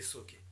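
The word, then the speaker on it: Zoqués: Ça s'écrit avec un Z, mais ça se prononce les Sokés.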